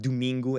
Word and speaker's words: domingo: a weird sound because the O's will end up sounding like ooh, like a U sound. So in the word domingo, as we see up